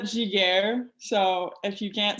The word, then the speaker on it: Giguère: Well, I'll start by saying my name, just in case you guys don't know how to say my last name. Yep. It's Giguère.